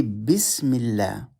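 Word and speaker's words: بسم الله: So this Alif is silent.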